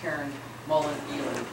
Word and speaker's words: Karen Mullen-Ely: Karen Mullen is not here tonight, and her name is pronounced Karen Mullen-Ely.